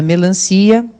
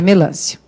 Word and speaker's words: melancia: vocês perceberem o seguinte muita gente põe o acento na melancia ea pronúncia seria melância substância tem acento mesmo